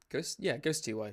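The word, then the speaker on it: Ghostty: How do you pronounce it? Ghost TY? Ghost TY, which is fantastic.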